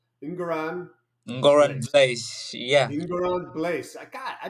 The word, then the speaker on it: Ngoran Blaise: And he's so new that I'm still learning how to pronounce his name. It's Ngoran Ngoran Blaise.